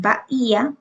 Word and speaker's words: Bahía: Aquí, sin embargo, aquí en Bahía, a pesar de que la regla dice que no se tildan las que terminan en vocales, Bahía tiene un hiato, es decir, que las sílabas se separan, entonces sí se tilda ya que tiene un hiato.